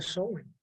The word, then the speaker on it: Samhain: festividad que le llamaban Samhain. Se escribe Samhain, pero se pronuncia Samhain.